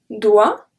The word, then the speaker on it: doit: and as you know, in French we usually do not pronounce the last letter of the word, so there is no exception in this one, so they are all pronounced the same way.